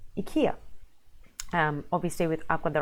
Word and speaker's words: IKEA: and lo and behold I think the correct fire or the Swedish way of saying this word is akia obviously with up on